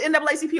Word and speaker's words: NAACP: that no more it's supposed to be n aacp oh that's the proper way okay yes that's a proper way to say it uh but you know